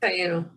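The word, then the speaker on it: Taíno: I think it's the Taino. I think that's how you say it. What? The Taino. Taino. Okay. Yep. Taino.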